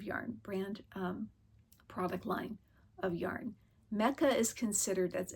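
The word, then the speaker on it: Mecha: As I said, this is made of Malabrigo Piedras, but It's the Mecca brand of yarn, product line of yarn. Mecca is considered, that's spelled M-E-C-H-A, is considered a bulky yarn.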